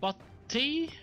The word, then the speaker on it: Butte: It's the Butte area that's about right now.